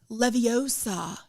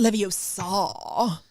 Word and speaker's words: Leviosa: Because it's Leviosa, not Leviosa, right?